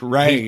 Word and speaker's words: Ralph: I like Ralph Fiennes a lot. It's Ray, isn't it? It's weird. What? It's Ray, isn't it? Ray. My bad. Ray. I mean, it clearly is spelled Ralph, but I'm saying, dude, his full name is insane.